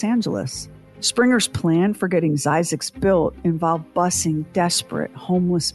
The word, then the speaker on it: Zzyzx: last word in health using the last three letters of the alphabet ZZ y ZX Springer Christen his new town and he pronounced it zyx we must never ask